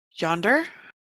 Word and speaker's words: Jander: It's properly pronounced Yonder. But As I always Rhiannon pronounce walks up, Jander.